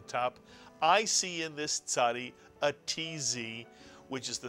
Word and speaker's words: Tzadee: It really is a very easy letter to pronounce once you think of the Mr. and Mrs. Katz, the ts sound, the Tzadee.